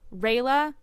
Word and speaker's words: Rayla: Is it Ralia or Rayla? Rayla. Okay, it's Rayla.